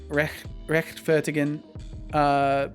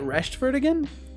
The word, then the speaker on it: rechtfertigen: Rechtfertigen could be spoken with the cat hiss sound, but some dialects also pronounce it as a soft SH. Interesting. So they say it Rechtfertigen?